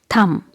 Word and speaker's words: thumb: So it's dumb and it's thumb. And in dumb letter B is silent and here also letter B is silent.